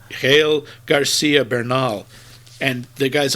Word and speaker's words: Gael: And I don't know how to pronounce the first one. I think it's Gael. It's Gael Garcia Bernal, and the guy's a legend, and what a voice he has.